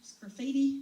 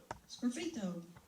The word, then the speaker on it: sgraffito: It's called Sgraffiti. Is that how you pronounce that, Joe? Sgraffito.